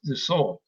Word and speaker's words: Dassault: I guess it's pronounced Dassault, who is the owner and creator of DraftSite.